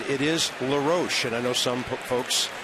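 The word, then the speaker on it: LaRoche: website about it Adam says his name is pronounced lar Ro just like his dad's was Dave but he said if you want to call me L roach that's fine I'm okay either way but he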